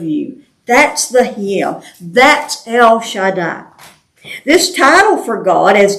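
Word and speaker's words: El Shaddai: part like Betty would be beti yeah it's El Shada is how it's pronounce it or how it's pronounced the word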